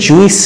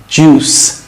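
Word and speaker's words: juice: জুস মানে রস, এটা কিন্তু জুইস না, জুস, জুস, জুস।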